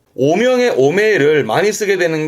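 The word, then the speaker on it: 汚名: 이름이 더러워진, 발음은 오메입니다. 오메. 오명의 오메를 많이 쓰게 되는 게 오명을 씻다 그러는데요.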